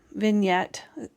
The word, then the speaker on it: vignette: on here, like a vignette with some stitching, vignette is how you say it, with some stitching stuff on it and that.